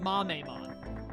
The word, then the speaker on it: Mamemon: The people who told me just, like, think of Kamehameha and then pronounce it like that, assuming that Mame is how you say it, then, you've given me the best cheat sheet of all time. I just have to say Kamehame, and then I know it's Mame.